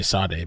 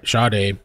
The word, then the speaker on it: Sade: reporting missing or sh they keep saying shade I think that's how it's pronounced it because shade I keep want to say saade but sh at approximately 9:00 p.m.